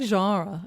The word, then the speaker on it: genre: It's like genre. I have certain words that I can't. I love how you say it French. You say it in the French.